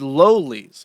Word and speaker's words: lollies: It is lollies with a long O because it is based off the book Lolita.